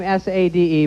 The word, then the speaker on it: Sade: She comes here from some other land, spells her name S-A-D-E, pronounces it Sade.